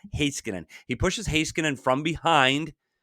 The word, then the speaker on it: Heiskanen: I've been saying it wrong. Heiskanen.